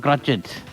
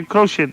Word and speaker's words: crochet: closer Seattle yeah now my nine boy used to pronounce it wrong crutch it no you should say crochet that's it yeah say